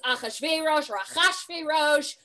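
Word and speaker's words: Achashverosh: many pronunciation issues like heyman haman right it's akhashverosh um you know and i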